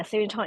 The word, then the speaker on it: Sirindhorn: Is it pronounced the Sirindhorn Institute International? Yeah, Sirindhorn International.